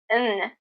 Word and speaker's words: and: Notice the pronunciation of and. In this phrase, I drop the D sound and I say N. Chalk and cheese.